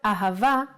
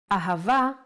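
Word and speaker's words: אהבה: So, as I mentioned, Hey can sound like both Ha and Ah. The word Ahava uses it in both ways. When Hey appears in the end of the word, it will always sound as Ah.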